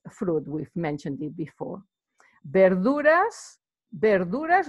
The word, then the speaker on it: verduras: with mentioned it before bear Laura's verduras remember the V is not pronounced V in Spanish is B sound bear Laura's it's vegetables